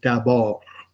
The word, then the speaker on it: d'abord: You might know some French words like d'abord. Well, anyway, d'abord, tout d'abord. But it's got a D at the end. You don't pronounce it.